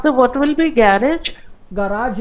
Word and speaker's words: Garage: गराज है, GARAGE, same spelling.